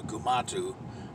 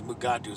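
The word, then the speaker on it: Gumato: with the poison fangs was called the gumatu but certain folks especially d kelly kept mispronouncing his mugatu so he's screwed go with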